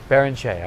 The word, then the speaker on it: Barrenechea: How do you pronounce it? Barrenechea, okay.